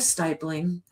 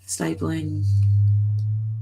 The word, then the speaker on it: stippling: It was just somebody saying it's pronounced stippling, not stippling.